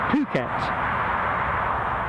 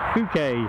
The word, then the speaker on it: Phuket: this sort of thing Phuket or bouquet as it kind of looks to me on a page Thailand so they